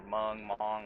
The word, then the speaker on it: Hmong: Hmong food fucking owns, by the way. Or Mong, whatever. Sorry, I just know the H is silent.